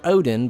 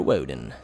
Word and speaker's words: Woden: So keep in mind, when you say this guy's name, it's not Master Odin, but Master Woden.